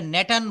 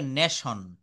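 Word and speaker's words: nation: আই ও এন এটা নেটান বলা যাবে না এটা বলতে হবে নেশন নেশন নেশন টি এবং আই একসঙ্গে থাকলে স উচ্চারিত হবে এসটি এ টি আই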